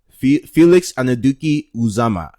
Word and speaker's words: Felix Anudike-Uzomah: me uh let me show you how the pronunciation of his name because uh Felix anaduki uzama see but that yeah he's my number three